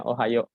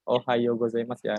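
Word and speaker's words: おはようございます: Guan Yu pegawai March dibacanya Ohayo gozaimasu Yahoonya itu panjang Karena di sini ada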